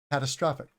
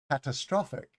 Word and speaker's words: catastrophic: use it an adjective catastrophic catastrophic the emphasis is on the third syllable catastrophic right so catastrophe